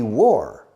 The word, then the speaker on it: wore: to wear is war it's exactly the same pronunciation as Guerra a war the first world war